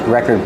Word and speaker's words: record: The verb record is different. We move the stress to the second syllable. Record. So the first syllable is not stressed. You make it close.